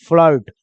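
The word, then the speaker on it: flirt: form क्या पढ़ेंगे form वैसे ही है एफ एल यहां तक तो ठीक है फल हो जाएगा और आई के बाद दे दिया आर तो आई का उच्चारण ले लेगा अ तो लय में अ जुट गया कोई फर्क नहीं पड़ा और आरटी को बोलेंगे टर तो क्या बन जाएगा फ्लर्ट क्या बन जाएगा फ्लर्ट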